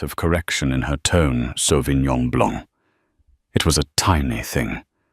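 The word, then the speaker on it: Sauvignon Blanc: The Sovenon Blanc. She pronounced it with a hard flat G and an anglicized blank.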